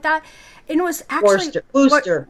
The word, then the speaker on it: Worcester: Worcester is the way they pronounce it.